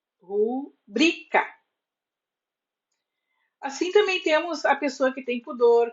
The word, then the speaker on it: rubrica: nos pedem a rubrica a palavra rubrica é paroxítona terminada em a e por isso não tem acento assim mesmo que peçam a sua assinatura abreviada como se fosse uma proparoxítona tenho em mente que se trata de uma paroxítona cuja sílaba tônica é e não a forma padrão na fala e na escrita é rubrica assim também temos a